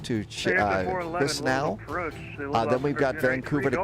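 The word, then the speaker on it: Chișinău: It's Katowice and it's Chisinau. All right, hang on. You know what I need to do? I'm going to copy those pronouncers over right now. Okay, so it's Katowice, and Chisinau.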